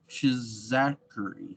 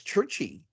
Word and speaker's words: Czuchry: His name is Matt Chizachary. I just like hearing him say that. How do you spell that, Jewel? It's CZUCHRY. Yeah, CZUCH. RY. I think it's UCH. I think it's Churchy.